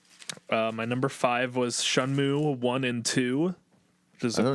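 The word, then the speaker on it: Shenmue: shanmu now um and is apparently pronounced shanmu not shenmu so don't correct me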